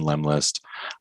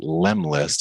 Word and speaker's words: Lemlist: And check it out also at Lemlist. It took me a while to figure out like how to spell or pronounce that. So it's LEM and then list.